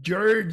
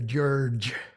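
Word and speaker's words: György: legetti is not problematic but george is the gy is another one of these sounds that you don't have in english it's a j sound and uh you got two of them here george uh and george is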